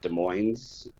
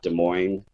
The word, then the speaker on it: Des Moines: They actually pronounce it Des Moines, not Des Moines, so I had to learn that.